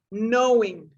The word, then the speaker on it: knowing: some in some words some of the letters are not even spoken and this is one of them you don't pronounce it k you it almost sounds like without the k knowing or no to know